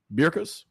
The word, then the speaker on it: Berkus: Berkus. That's how you say it.